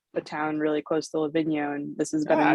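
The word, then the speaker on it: Livigno: italy which is a town really close to la vigno and this has been a new location for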